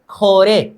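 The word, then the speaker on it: 고래: Okay, यहां पर ग आगे आ जाने पर क्या चीज का उच्चारण करेंगे? ख करेंगे। ये निचले वाले हिस्सा क्या हो गया? इसको बोलेंगे अ। ख प्लस ओ, खो। इसको ओ बोलेंगे तो खो हो गया। ए र हो गया। र के साइड वाले चीज जो यच बना फिरा है, इसको बोलेंगे ए। र प्लस ए, रे।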